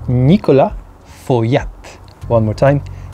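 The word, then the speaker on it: Nicolas Feuillatte: number three it's also trick one because it's Nicola for Yap one more time Nicola for yet number two this click one more time click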